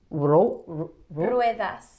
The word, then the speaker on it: ruedas: And this is la silla de ruedas. Ruedas. So it's a U. You say the U and the E.